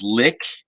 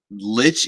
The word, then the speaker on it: Lich: Now, I understand there's some people who are like, it's pronounced lick. I like Lich. It sounds far more sinister than lick, but whatever.